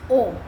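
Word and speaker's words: ॐ: Here the pronunciation changes. Yeah, it's not actually A, U. So it becomes, because this comes in, it becomes O. So A, U and Ma together is Om.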